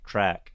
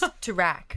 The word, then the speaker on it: Toorak: era it is, and the proper way to pronounce Toorak, the way they say, is track. No, it's Toorak. It's track. It's, Yeah. no. It's Track track.